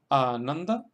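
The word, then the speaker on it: Ānanda: Y en el caso de Ananda, estamos acentuando en la segunda sílaba porque a la na le siguen dos consonantes, na y da, las consonantes nd.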